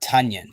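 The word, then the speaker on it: Tonyan: regression has come um robert onions really feeling that right now that's uh robert tunyan just want to make sure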